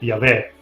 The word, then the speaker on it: Yahweh: Nell'Antico Testamento, ovvero nelle scritture ebraiche, Dio viene indicato principalmente circa 7000 volte, col nome proprio YHWH, probabilmente pronunciato Yahweh.